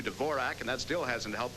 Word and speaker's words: Dvorak: Then there's Miroslav Dvorak, who's changed the pronunciation of his name to Dvorak, and that still hasn't helped his play.